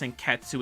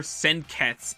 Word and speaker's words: Senketsu: Finally, and this is just a nitpick, but I didn't like how they pronounced Sanketsu in the dub. I know it's a dumb complaint, but it bothered me to hear Senketsu instead of Sanketsu, which I was more used to.